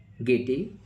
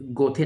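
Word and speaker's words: Goethe: Of Shakespeare who said गेटी done ST कोस बें Johnson हमारा जो राइट आंसर हो जाएगा राइट आंसर गेट बहुत सारे एस्पेरेंट इसे गोथे नाम देते हैं बट एक्चुअल प्रोनाउंसिएशन गेटे है।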